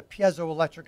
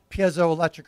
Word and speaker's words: piezoelectric: And the second one, well, that's actually called a piezoelectric effect. That's the scientific. What is that? Piezoelectric or piezoelectric, pronounced two different ways, like tomato, tomato.